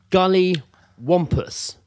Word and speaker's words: Gully Wampus: What was one of the words I pronounced wrong? I didn't really get what it was. Gully whoppers. Gully wampus.